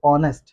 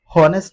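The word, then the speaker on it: honest: ओ से पहले अगर एच आ जाए तो एच साइलेंट हो जाता है। जैसे हमारे पास यहां पर वर्ड है ऑनेस्ट। अब इसको ओ ओ से दोस्तों हम पढ़ रहे हो ऑनेस्ट। तो इसे हम होनेस्ट नहीं पढ़ सकते कि वो बहुत होनेस्ट इंसान है।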